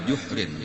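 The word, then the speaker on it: جحر: Ada salah. Wa ata ala juhrin, itu membacanya telah itu jim dahulu. Lubang, kalau juhrun artinya lubang.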